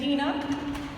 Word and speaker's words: Deana: is my name is Dena I know it's spelled a lot of people argue that it's spelled Deana but it's Dean with an uh at the end and some people like